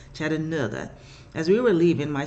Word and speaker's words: Chattanooga: Years ago, my sister and I were in Chattanooga, because that's how they say it, Chattanooga.